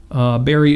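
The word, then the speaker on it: Bari: Barry is a woman. Name is spelled B-A-R-I, Weiss. Mm-hmm. If you're not already listening to that podcast, honestly, by Barry Weiss, give it a listen.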